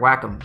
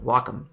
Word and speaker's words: Wacom: and said it's great to be here at wacom and they said it's actually pronounced wacom but anyway if i use a brush that